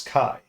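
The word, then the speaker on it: χ: yeah so we call we call the variable X but what it actually is is Kai right yeah yeah so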